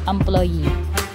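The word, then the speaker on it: employée: Keep in mind that adding an E to a final sound does not change the sound of the word. Say for example, employee. A male employee and the female employee in French is employee.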